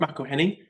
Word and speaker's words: McElhenney: Yeah, but people don't realize the A in between the M and the C.